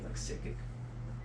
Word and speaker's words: Sickick: It's like spelled like psych and then sick. Like sick or sick. I think it's like Sickick.